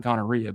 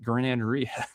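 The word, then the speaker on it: giardiniera: Not gorrhea, but graneria.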